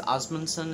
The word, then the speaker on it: Ásmundsson: I think it's Ásmundsson is how it's pronounced, but it's Icelandic.